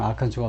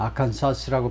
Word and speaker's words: 아칸소: 그리고 많은 그 잘 모르는 아칸소를 잘 모르는 사람은 아칸사스라고 발음하죠. 이거 이 S가 발음이 안 된다. 아주 특별하게 아칸소라고 발음한다는 사실을 모르는 미국인들 아직도 많습니다.